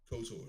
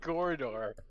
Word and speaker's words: KOTOR: No, say KOTOR. That's what I said. KOTOR. Yeah. There you go. There you go. You said it. You said corridor. I say corridor. Corridor. That's not how you say it.